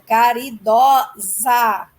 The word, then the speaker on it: caridosa: E no feminino, o O é aberto, caridosa, ok?